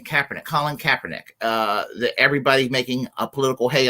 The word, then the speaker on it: Kaepernick: Colin Kaepernick.